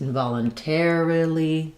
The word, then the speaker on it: involuntarily: So involuntary, first syllable stress, involuntarily changes to the second to last syllable, or third to last syllable, and the ter syllable.